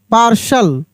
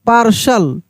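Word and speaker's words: partial: T patient T ए आर टी आई एल पार्शल क्या पढ़ेंगे इसको हम लोग पार्शल आई एन आई टी आई L initial I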